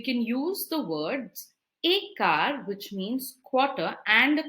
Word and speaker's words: quart: q-u-a-r-t means quarter car it's pronounced as car like the car we drive car okay now how